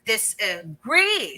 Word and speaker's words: disagree: kids a signal that the gree syllable should be stressed more or emphasized more than or better than the first syllable this so in other words, you Okay. say disagree. So we're already trying to emphasize more the second syllable agree. So Okay. there. So you're All saying right. that disa is unstressed and agree is Mm-hmm. stressed.